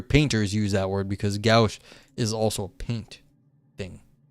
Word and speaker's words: gouache: But I do hear painters use that word because gouache is also a paint thing. It's like, gouache. Yeah, gouache.